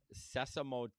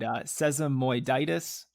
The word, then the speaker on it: sesamoiditis: It's called sesamotitis.